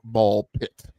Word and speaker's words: BALL x PIT: Ball pit. Ball pit. That's right. You don't you don't pronounce the X.